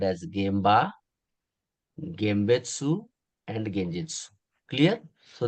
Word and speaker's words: Gemba: So normally you can write M as well, Genba, Gmba, but pronunciation is M, Gemba. So either you can write N or M, both are correct. So some people are writing N, some people are writing M, there is a debate, but pronunciation is Gemba.